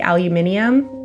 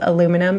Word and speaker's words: aluminum: Were you thinking that I was gonna say it like aluminium? We definitely don't say it like that. We say it as aluminum in Canada, but that's definitely really creepy.